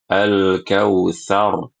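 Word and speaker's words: الكوثر: Ya, dia baca dengan Al-Kautsar, dipanjangkan. Harusnya dengan pendek. Al-Kautsar, pendek.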